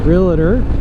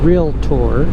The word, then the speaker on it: realtor: to check in every day self-employed as a realer and actually it's pronounced realtor but in Baltimore you can also say Baltimore